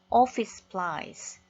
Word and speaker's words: office supplies: 사무실이니까 사무용품, office supplies, office supplies 이렇게 두 번 발음하지 않죠. office supplies.